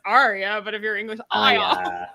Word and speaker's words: Arya: just it kills me the ones that can't pronounce the r in arya's name and they say like it's like that's the moment you realize george r.r martin is not english because he wrote a name like arya you say it as